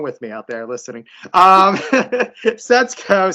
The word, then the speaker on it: Setsuko: Setsuko. It's the way that the SU sound in Japanese sounds. Just like it's not Sasuke in Naruto, it's Sasuke. So Setsuko.